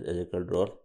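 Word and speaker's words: Yehezkel Dror: Actually, it is Ezekiel. It is pronounced as Ezekiel Drawer.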